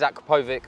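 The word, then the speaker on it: Akrapovič: So actually they've now got a partnership with Aprokovich. You said how you say it? I thought it was Akrapovic. It is Akrapovic or anything.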